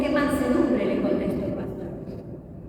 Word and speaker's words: Pasteur: Y el porque francés dice que se pronuncia pastor, pero es pasteurizada, viene de Pasteur.